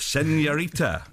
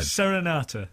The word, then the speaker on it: Serenata: here because you got a new album out senorita again sen sen sen rata I love it I love it well how do you say it then Serenata yeah that's right that's what I said it